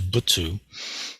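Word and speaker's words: 仏: uh characters that is pronounced with two syllables so it's butsu um in in Chinese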